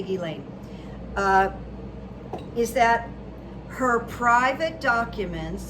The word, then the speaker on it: Ghislaine: Now, something interesting about, I think a lot of people don't know how to say her name, Ghislaine Maxwell. I'm just going to say Ghislaine.